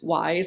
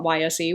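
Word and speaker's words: YSÉ: Thank you to the kind viewer who let me know that this is in fact pronounced Wise and not YSE, which is how I last referred to it.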